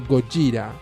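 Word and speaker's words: ゴジラ: ve que dice Godzilla, la pronunciación es más bien del estilo Gojira.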